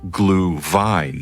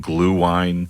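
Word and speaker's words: Glühwein: Glue vine. So if you're going to go full Germanic pronunciation, the W's a V, or you could just call it glue wine, which sounds weird.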